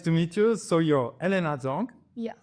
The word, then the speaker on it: Helena Zhang: So you're Helena Zhang, Yes. right? I pronounce it cool?